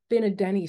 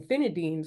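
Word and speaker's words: fina'denne': And the but the what's unique, and I didn't do the specific what I'm sharing today is the Finadenny sauce. Now, I'm going to show you how it's spelled because I've been saying it wrong for years.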